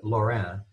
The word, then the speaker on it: Lorrain: I'm not saying the N in this case. He's called that, and you'll see him referred to as Claude or Claude Lorrain or just Lorrain.